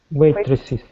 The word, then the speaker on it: waitresses: Remember we always pronounce the es waitresses. And yeah, and he waitresses.